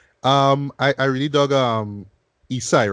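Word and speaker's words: Esai: I really dug Isai, right? That's how you pronounce his name.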